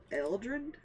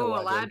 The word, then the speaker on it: Eladrin: He is a large Eldrin elf? I can't pronounce it. Hey, Ooh, Eladrin.